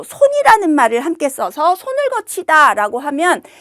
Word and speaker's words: 걷히다: 이런 걸 국외음화라고 얘기를 하는데 겉히다라는 말은 국외음화가 일어나서 발음은 거치다라고 내지만 표기는 소리대로 쓰는 것이 아니라 원형을 밝혀서 써야 합니다.